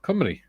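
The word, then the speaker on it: Cymru: says I believe Welsh for Wales is cumy pronounced cumy yes it is um C it's not Wales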